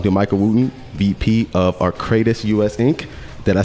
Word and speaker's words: Arcadis: we are talking to michael wooten vp of arcadis us inc did i say that right arcadis arcadis arcadis arcadis yeah all right got it uh ed